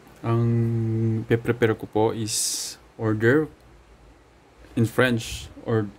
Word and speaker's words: hors d'oeuvre: So, ang pe-prepare ko po is order in French, or yun po daw yung correct pronunciation, order.